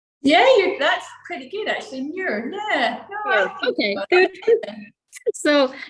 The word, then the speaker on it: Muir: Muir, yeah.